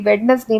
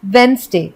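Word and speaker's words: Wednesday: इसे बोलते हैं रैपर और ये सबसे कॉमन मिस्टेक जो लोग करते हैं वेडनेसडे बोलते हैं लेकिन वेडनेसडे नहीं होता है क्योंकि वेडनेसडे में डी साइलेंट होता है और एक्चुअली में इसे हम बोलते हैं वेनसडे तो वेडनेसडे करेक्ट प्रोनंसिएशन नहीं है करेक्ट प्रोनंसिएशन है वेनसडे तो आप क्या करेंगे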